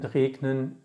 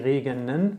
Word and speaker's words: regnen: And we don't say regnen because it's one syllable too much. We say regnen, we kill this E.